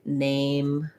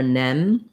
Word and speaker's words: name: like name or change what i tend to hear there is that people will just use a and to an american it'll sound more like ah it'll sound like you're saying change or nem because we don't have this e by itself in american english we have the diphthong a so if you think